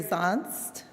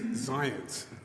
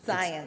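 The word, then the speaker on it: Zyontz: Now I'd like to invite up Jeffrey Zonst, former chairman of the Maryland National Capital Park and Planning Commission.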